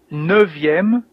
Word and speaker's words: neuvième: Septième, huitième, neuvième. Here you can see that the F of neuf becomes a V, neuvième, and dixième with the same pronunciation Z here.